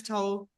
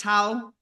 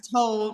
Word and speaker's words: Towl: about your surname because everyone says Jess Towl. No, Jess Towl. Yeah. And your Jess Towl rhymes with bowl, which is what we worked out in Istanbul.